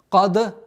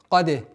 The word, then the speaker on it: قد: Кад, нет. Каде. Кад, нет. Ошибка будет. Почему? Потому что даль мягкий звук. Да, у этого звука является присущее свойство калькаля, но не твердость.